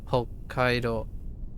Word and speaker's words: Hokkaido: So Hokkaido. Anytime there's a double consonant, one of them is silent.